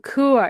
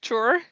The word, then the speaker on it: Chur: So I hear often the word chore if I speak with English speakaking people but like the people living in core they say it with a K like core and but